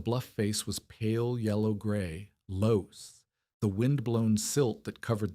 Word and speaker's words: loess: She had heard the word from Torvaldson, loess, pronounced like less, German for loose, but it wasn't loose. Where the creek had cut through, the loess stood in vertical walls, clean as if sliced with a knife.